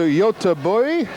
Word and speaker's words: Göteborg: Yes, welcome to Göteborg. That's my attempt at a Swedish pronunciation of Gothenburg.